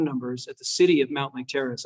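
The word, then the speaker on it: Mountlake Terrace: And most of them said, like, yeah, this is Cindy from Mount Lake Terrace. But the pool one said, you've called the Mont Lake Terrace pool.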